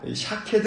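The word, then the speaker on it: שָׁקֵד: 확신 시켜 주신 것입니다 살구나무 는 히브리어로 샥 캐드 날은 바로 이고 지켜본다 는 말은 히브리어로 q 케드 입니다 즉 살구나무 사케도 와 지켜본다는 단어 쇼케이 드가 히브리 말로 비슷한 발음을 하고 있어서 이 툭 단어를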